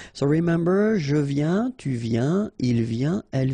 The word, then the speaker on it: viens: Je viens. Final S not pronounced, okay? And when you combine this IEN, you get this yin, yin.